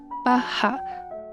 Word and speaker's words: バッハ: 在日文里面的发音巴哈，或者它也有无限零无限的意思。